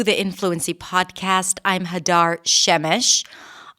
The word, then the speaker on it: Shemesh: I'm Hadar Shemesh, often pronounced as Sheamesh by native speakers.